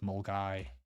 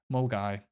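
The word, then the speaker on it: Milngavie: and this one's fun how would you pronounce that there's any at the end mgab it's mul guy mul guy um then we have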